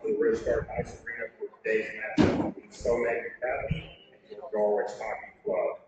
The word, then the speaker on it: Somang: Yeah, I was told that's how you pronounce it.